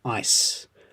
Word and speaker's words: ice: Ice. Ice with a s sound.